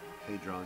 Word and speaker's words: Hadron: I can always mispronounce it. Hadron Collider.